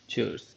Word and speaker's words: Tschüss: तो इसको प्रोनाउंस करने के लिए आप यह कहेंगे चर्स।